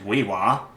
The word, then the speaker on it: We:wa: Native American fiber artist, weaver, and potter, the late Weewa, as it's pronounced right here, as a Thamana.